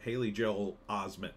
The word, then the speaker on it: Haley Joel Osment: Haley Joel Osment, that's how you say his name.